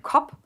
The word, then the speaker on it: Kopf: a lot of cases, they don't pronounce the F at the end of words, so like Kop, like Fischkopf, or something like that.